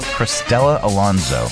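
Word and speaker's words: Cristela Alonzo: How do you pronounce her name? Uh, Christella Alonzo. Christella Alonzo.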